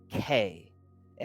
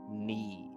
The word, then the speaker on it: knee: It has the silent K. It has the silent K.